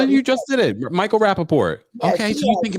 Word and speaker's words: Rappaport: I'm trying to sound, I don't know how to pronounce his name. No, you just did it. Michael Rappaport.